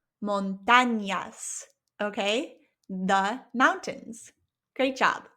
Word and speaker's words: montañas: Listen to the difference. Montañas, that's without the squiggly line, and with the squiggly line, the way the word is spelt, montañas, montañas.